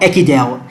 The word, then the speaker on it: Ekidel: of this video and our channel is called echidel and it is spelled e-k-i-d-e-l okay so right now you can